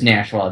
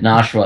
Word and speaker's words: Nashua: Nashua yeah it is NASA that's how you correctly pronounce it we got that I said nsha and they said no it's Nash n Nash like Nashville Tennessee and like a [